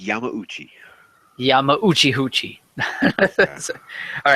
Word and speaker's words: Yamauchi: of Polyphony Digital, Kazunori Yamachi, has revealed. I hope I'm saying that correctly. Oh, wait. I know how to pronounce his name. Do it. Let me hear you. Kazunori Yamauchi.